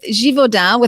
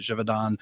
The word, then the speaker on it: Givaudan: With Givaudan, I think as I'm saying with the French pronunciation, it's okay.